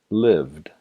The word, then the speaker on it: lived: Cuando el verbo termina en unos de estos sonidos, se pronuncia el verbo con el sonido D en la terminación. Un ejemplo. Live, lived.